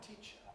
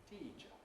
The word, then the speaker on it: teacher: That's a long vowel in the first syllable of teacher. You might expect it, therefore, to be pronounced long, teacher.